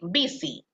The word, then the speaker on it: busy: Hay una, siempre hay una, como una pequeña confusión con la palabra ocupado. Busy, ¿verdad? Pero en este caso la pronunciación es busy. Busy. Acuérdense de la bicicleta, busy.